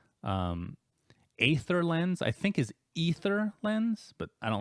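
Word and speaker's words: Aether Lens: on dis correctly ather lens I think is ether lens but I don't like how that sounds so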